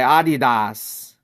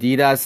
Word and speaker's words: Adidas: Oh, so you pronounced it the German way, Adidas. And then now since you live in the United States, you pronounce Adidas now.